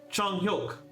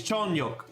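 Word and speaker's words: 중혁: Chonghyuk is how you pronounce that. I hate the romanization of Hangul. It's Chonghyuk. I wish I could just read like their like actual Korean characters because I can't pronounce the Korean name with these letters. It's Chonghyuk, by the way.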